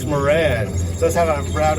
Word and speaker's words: Moran: We know him, and I'll give this the American pronunciation, as Lieutenant Colonel Nicholas Moran.